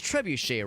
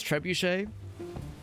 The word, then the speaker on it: trebuchet: I think it's trebuche. So, I don't know. That that seems that seems a little sus. A little bit sus that that the voiceover is like very confidently saying it wrong.